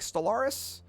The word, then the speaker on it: Stellaris: You need to check out Stellaris. I mean, it's Stellar Is. That's how you spell it.